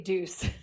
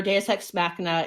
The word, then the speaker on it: Deus ex machina: as one of those Deus Ex Machina. Amy, am I saying that right, teacher Amy? Deus Ex Machina. I can never say that word. Deus Ex Machina. You don't want to say deuce.